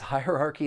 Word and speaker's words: hierarchy: There are four syllables. The stress is on that first syllable and the second syllable. You do hear that schwah sound.